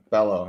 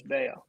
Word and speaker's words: Bello: brian bellow yeah well i think it's pronounced bail though i think they made it oh is it a weird variation yeah i think they made a point to like put out the pronunciation as bao i hope so because